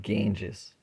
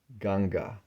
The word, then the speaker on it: Ganga: history of ganga not ganges ganga say said with respect mother ganga not ganges pronounce it properly ganga okay it's sanskrit we